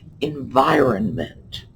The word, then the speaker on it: environment: Now, when we say this, that middle N is just barely touched on. But environment, that R is in there. A lot of us use the word when we pronounce it as if the core of that word is iron, like flat iron or the ferrous metal.